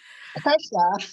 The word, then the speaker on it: Kirsha: So I'm so worried about pronouncing your first name wrong. Kaesha. Kaesha, yeah.